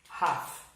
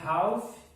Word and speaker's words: half: Metade, pessoal, é uma half. Se escreve half, mas não se fala half, tá?